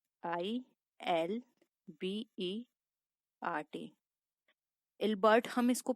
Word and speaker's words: Ilbert: Next था ILBERT, इल्बर्ट, हम इसको प्रोनाउंस कर सकते हैं फ्रेंड्स।